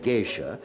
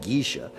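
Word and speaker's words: geisha: any area you wanted the americans had heard the word geish and Immediately pronounced it gisha and thought that the girls they slept with in the parks were gish Girls well They were certainly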